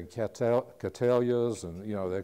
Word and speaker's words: Cattleya: A lot of our customers come in and say Cattleyas, and you know, they call them everything. But anyway, remember it's named for William Cattley, and you'll know how to pronounce it.